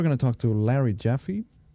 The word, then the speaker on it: Jaffee: Today we're going to talk to Larry Jaffy. That's correctly pronounced.